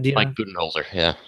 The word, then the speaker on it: Budenholzer: How do you pronounce his Uh, name? Do you Mike know? Budenholzer, yeah, Budenholzer.